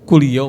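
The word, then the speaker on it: Coolio: Gengster Paradise itu penyanyinya Colio ya? Kulio Mas. Hah? Bukan colio bukan bacanya enggak gitu. Hurufnya apa? C C O L I O O O Iya dibaca kulio cuma memang tulisannya heeh y yo.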